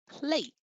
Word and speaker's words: plate: one difficult plate um it's that long a sound isn't it plate plate so we've got that silent e the magic e as it was called when i was in school at the end of the word and it changes the sound but we don't pronounce it indeed they need to